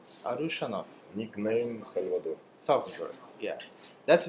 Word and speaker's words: Arushanov: Arushanov. Arushanov.